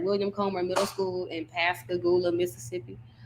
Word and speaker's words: Pascagoula: I've seen it on a sign, so that's how you say it, Pascagoula. Pascagoula.